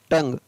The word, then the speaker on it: tongue: जैसे TONGUE, तो यहाँ पर TON का हो गया टंग, GUE का ग, टंग।